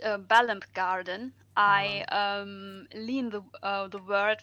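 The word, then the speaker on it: Balamb Garden: This one is, I think it's pronounced Balam Garden. Did I pronounce that correctly? It is Balamp Garden.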